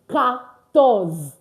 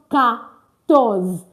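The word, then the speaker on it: quatorze: It's pronounced ctors. So I know that French learners that speak English, we are tempted to say e. The qua is pronounced as c. So it is what? CS. C. ctors. So don't try to pronounce it the way you pronounce it English. Why? Because q ua is pronounced as cs is not queen. It's can.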